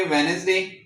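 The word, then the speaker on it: Wednesday: जैसे हमने कहा है कि वेडनेसडे तो क्या हुआ है? ये वाला जो डी है ये एन से पहले आ गया है। तो हम नहीं पढ़ेंगे। ये साइलेंट है।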